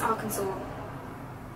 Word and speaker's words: Arkansas: That's how it's spelled, Arkansas. Arkansas. It says Arkansas. Rosie, it's Arkansas.